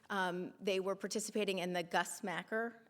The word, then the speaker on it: Gus Macker: They were participating in the Gus Macker. I call it Gus Macker, but apparently it's Gus Macker. I'm not saying it correctly.